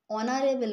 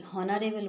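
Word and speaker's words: honourable: না হবে না কেন যখন দেখবে যে এই আছে ফার্স্ট লেটার কোন ওয়ার্ডের কিন্তু উচ্চারণ করতে গেলে সেই এইটা সাইলেন্ট থাকছে যেমন আমরা হাওয়ার বলতে পারি না আমরা এটাকে বলি আওয়ার অনেস্ট বলি হনেস্ট বলি না ওকে অনারেবল বলি হনারেবল বলি না ঠিক আছে তো সেইজন্য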